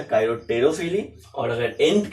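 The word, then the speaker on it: chiropterophily: थोड़ा आसान था काइरोपेटेरोफिली, लेकिन इसको आप काइरोटेरोफिली पढ़ते हैं। क्या पढ़ते हैं भाई? काइरोटेरोफिली। पी साइलेंट रहता है, लेकिन काइरोपेटेरोफिली पढ़ेंगे ना तो स्पेलिंग लिखने में आपको आसानी होगा।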